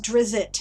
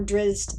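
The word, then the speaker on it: Drizzt: very very nice oh it isn't drizzit no it's not as a matter of fact um ari salvatore uh realized that was a common mispronunciation and he incorporated it into one of the stories there was a little kid who met dressed or dressed is more accurate and called him drizzit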